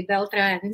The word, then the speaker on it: Beltran: said my name um you said it correctly beltran so it's so refreshing to hear someone that can actually pronounce it properly well as we're going to